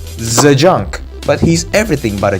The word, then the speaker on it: Zajonc: Zajunk, pronounced like how a German guy would say the junk. Zajunk, but he's everything but a junk.